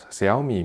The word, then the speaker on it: Xiaomi: projector here note that I am pronouncing say ami media in the correct Chinese pronunciation not because I know